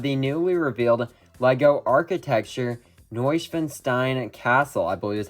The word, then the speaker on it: Neuschwanstein: Hello everyone, today we're going to be taking a look at pictures of the newly revealed LEGO Architecture Neuschwanstein Castle, I believe is how you pronounce that, and it will come out on August 1st.